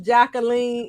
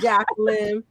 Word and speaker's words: Jacqueline: No, her name is not pronounced Jacqueline. It's Jacqueline. Jacqueline. It's okay, but I like it. Yeah, AI says that in the song. Jacqueline. Well, it's the French pronunciation of my name.